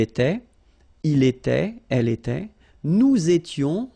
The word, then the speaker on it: nous étions: Nous étions, little liaison here to make it more beautiful. Nous étions, okay? Final S not pronounced, remember?